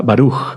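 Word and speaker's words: ברוך: Por ejemplo, perdón, y o y la interpretación puede ser la primer sílaba fuerte y la segunda sílaba suave. Por ejemplo, con la palabra baruj, bendito barug. Sí, la primera fuerte.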